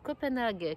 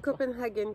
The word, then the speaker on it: Copenhagen: vous présenter le Lunae, le Copenhague cardigan, tu te prononces pas comme ça, Copenhagen cardigan, beaucoup plus chic.